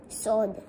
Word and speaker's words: sword: Sword. Very good. Remember that the U is silent.